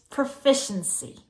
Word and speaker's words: proficiency: let's pronounce proficiency if you're proficient at something you have that skill you can do it pro pro fish proficiency proficiency that's a lazy